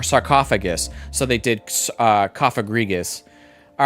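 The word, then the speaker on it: Cofagrigus: I was like cafa cafagris. It's just coffrigus.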